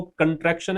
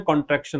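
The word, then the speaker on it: contraction: पहली बात तो इसको पढ़ना सीखो, प्रोनाउंसिएशन सीखो, कंट्रैक्शन है, कॉन्ट्रैक्शन नहीं है।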